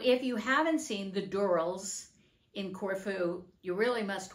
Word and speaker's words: Durrells: I did a review and I said the Dells in Corfu but it's actually found out that their last name is pronounced Dural so this is about the Dural and what